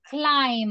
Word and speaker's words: climb: a letter a and remember that for the pronunciation of this verb we don't need letter B okay we don't need letter B so the pronunciation is climb clim climb clim clim